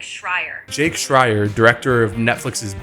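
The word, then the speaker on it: Schreier: It's pronounced like Shrier.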